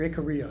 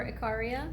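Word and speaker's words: Ikaria: Nicoya Costa Rica and is it a Korea or a Korea in Greece Korea or Acharya right you say tomato I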